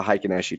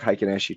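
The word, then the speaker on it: Heikin-Ashi: your thinker swims and everything will have a high kanashii chart it's spelled hei ki n a sh i now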